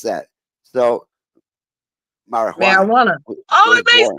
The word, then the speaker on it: marijuana: Ma, But as far, marijuana. but again, in the Spanish language, the J is pronounced as H, and that is why